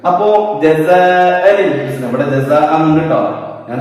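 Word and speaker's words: جَزَاءً الْحُسْنَى: വസ്ലിന്റെ ഹംസക്ക് കൂട്ടി ഓതുന്ന സമയത്ത് ഉച്ചാരണത്തിൽ കൊണ്ടുവരില്ല. അപ്പോ ജസാഅനിൽ ഹുസ്ന, ഇവിടെ ജസാ ഉണ്ട് കേട്ടോ, ഞാൻ ഹംസ മാത്രം എഴുതിയെന്ന് മാത്രമേ ഉള്ളൂ.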